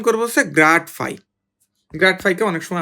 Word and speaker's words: grad: তো এটাকে আমরা মুখে উচ্চারণ করবো হচ্ছে গ্রাড ফাই।